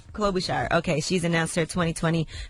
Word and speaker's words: Klobuchar: Klobuchar.